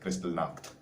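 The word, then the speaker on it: Kristallnacht: that's how it's spelled crystal knocked that's how you pronounce it like it's german so it's brown stocked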